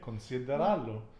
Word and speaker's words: considerarlo: Considerarlo. Okay, because you're kind of trilling that R.